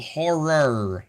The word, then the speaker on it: horror: You're not getting the full second syllable of horror.